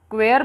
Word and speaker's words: queer: क्वेयर भी इसका pronunciation है, उसको क्लियर कर देती हूँ मैं। इसका जो प्रोनाउंसिएशन रहता है क्वेयर भी रहता है और क्वेयर भी रहता है, क्वेयर भी रहता है, ये दोनों आपको ध्यान में रखना है।